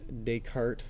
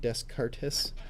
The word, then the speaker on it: Descartes: here Rene Descartes yes that is pronounced Descartes not desk artist French French dude and